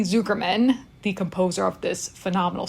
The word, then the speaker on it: Zuckerman: So first and foremost, though, I have to say, I got the name right, but the pronunciation incorrect. It is Jeremy Zuckerman, the composer of this